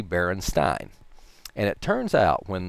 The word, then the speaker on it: Berenstain: e st aain Berenstain however since this german and german when you have to let two vowels the second one is the one that you sound out it's actually Berenstein and it turns out